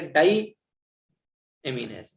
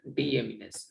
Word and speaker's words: deaminase: डी एमिनेज, एक है डाई एमिनेज। Spelling error है थोड़ा सा, ई और आई, ठीक है, ये नहीं है, ये हो गया डी एमिनेज, नॉट डाई।